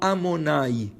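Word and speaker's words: Adonai: Mais tu peux pas le lire de la manière dont il est écrit. Alors tu l'écris Yud Ke Vav Ke, mais tu le prononces pas tel qu'il est écrit. Tu le prononceras sur le mot Amonai, qui est le nom d'Hachem. Alors il est écrit d'une manière, il est prononcé d'une autre.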